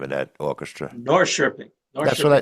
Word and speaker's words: Norrköping: I'm not going to be able to pronounce the name of that orchestra. Norrköping, That's what I Norrköping that's what I Symphony.